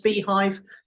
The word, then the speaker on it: Beehiiv: So if you just type in Nicola Cairncross Beehive, which is spelled BEEHIIV, you'll find me.